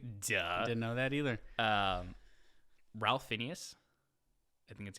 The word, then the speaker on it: Ralph Fiennes: I said Phineas. I think it's Ralph Fiennes. I said Phineas. Caipirinha. I can't read apparently. I think it's Ralph Fiennes.